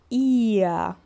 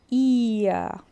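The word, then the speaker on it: ihr: E o H, que a gente não pronuncia porque ele vem depois de uma vogal.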